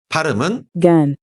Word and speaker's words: GaN: Pronunciation is gen You can read it as 'GaN' is Used in high-performance electronic